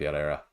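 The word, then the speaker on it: Éire: Irish language so that's why I'm called era and H if that's what you're asking and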